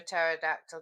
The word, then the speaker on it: pterodactyl: Why can't you hear a pterodactyl going to the bathroom? Why? Because the P is silent.